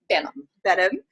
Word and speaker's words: Benham: Benham, from the Memorable Presenter, and she is a